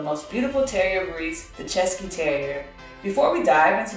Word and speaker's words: Cesky: from the czech republic the czech terrier pronounced chesky is the only brief